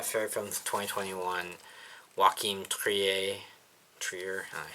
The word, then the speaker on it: Trier: one of my favorite films 2021 walk Trier Trier I say his name for